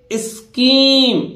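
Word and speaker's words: scheme: इसी तरह देखिए स्कीम, सी एस ए काई मान लीजिए आप, एच साइलेंट रहेगा, स्कीम ए लार्ज स्केल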